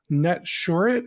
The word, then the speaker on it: Netsurit: and Oren is the co-founder and CEO of net short is that the right way to pronounce it perfect I like hearing that um